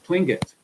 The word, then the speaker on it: Tlingit: I pronounced that properly. Tlingit.